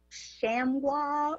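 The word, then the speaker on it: Chamounix: I believe that the street is pronounced Chamois or something. Chamois, yes. Very good.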